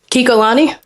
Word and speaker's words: Kikolani: How do you pronounce that? Kikolani.